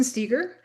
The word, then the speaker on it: Stieger: My name is Steiger. Rhymes with eager.